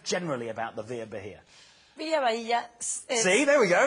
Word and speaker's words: Via Bahia: And now we've got 5 exciting developments to show you, starting with the Via Bahia, which I like because it rhymes. Via Bahia, and I sound good doing it, so I don't care.